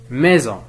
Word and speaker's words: maison: écrits en rouge visage maison visage maison nous avons ici la lettre s mais qui se prononce avec en z la même chose